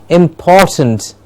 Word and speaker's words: important: I hope we are practicing the t sound. Yes, important. I should hear t, t, t. Important. Important. Can I hear everyone in Punjab saying it correctly? Important. It's important to get the pronunciation of the word important correctly.